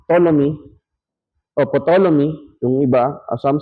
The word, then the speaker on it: Ptolemy: In AD 150, Ptolemy, silent P to no? Ptolemy, yung iba, as some says, dogmatically said that there are 156 or 1056 stars existed.